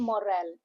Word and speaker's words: morale: Good leadership improves team morale. Morale m u h r a l. That is how we pronounce the manager boosted team morale.